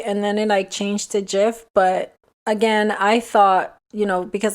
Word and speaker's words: Jif: And then the next one is your favorite peanut butter, Jiffy. So everybody apparently thought it was Jiffy, but in reality it's actually Jif, J-I-F. I remember it being Jiffy and then it changed to Jif.